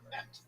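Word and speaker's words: את: So Bereshit bara, in the beginning, he made, namely God, what? Es. Et. Pronunciation is correct.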